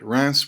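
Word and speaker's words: Reims: a coronation ceremony for the Delphi all right Rass was the traditional venue for the coronation of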